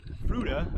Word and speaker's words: Fruita: We are right now in Fruda. I learned that's how you pronounce it from a local.